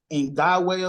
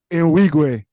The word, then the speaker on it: Nwigwe: I can't pronounce his last name, but his name is like Toby Ngwe or something like that. And he has a song called, what's his name? Nwigwe.